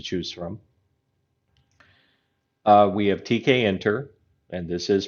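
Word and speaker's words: Tkinter: different options to choose from uh we have TK enter and this is pronounced TK enter okay which is actually bundled with python we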